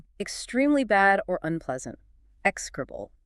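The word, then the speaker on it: execrable: Excribble. E X E C R A B L E KC krubal.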